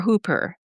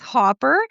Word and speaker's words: Hopper: And And is your last name Hopper or Hooper? It's Hopper, and my first name is pronounced.